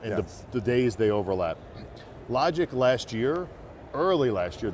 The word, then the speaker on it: LodgIQ: So being the CEO of LodgIQ, L-O-D, then I-Q, LodgIQ, if I'm pronouncing it.